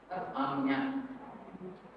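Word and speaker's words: Ajna: Agnya. in Bengali, Bangla pronunciation. What I know, because I read in Bengali. So, Agnya, Bangla pronunciation.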